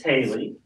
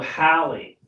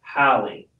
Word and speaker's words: Hallie: Oh, Hallie. I'm sorry. He doesn't have his glasses on. No, no. She told me how to pronounce it. H-A-L-L-E-E. Hallie. Not Haley. Because I'm saying it with a Y.